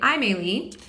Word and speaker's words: Aimeili: Anyway, Aimeili.